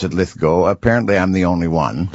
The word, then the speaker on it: Lithgow: Well, they've said Lithgow forever, and it's Lithgow. I pronounce it Lithgow.